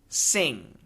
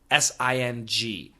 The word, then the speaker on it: sing: going to answer some of them uh the pronunciation differences between several words so the first one sin and sing s i n and s i n g Sin Sin sing sing now the n and